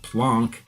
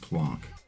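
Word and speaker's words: Planck: time or plank length but I call it plon because for one I was corrected when I called it plank blank at the California Institute of integral studies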